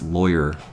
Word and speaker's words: lawyer: How do I pronounce lawyer? It's like boy.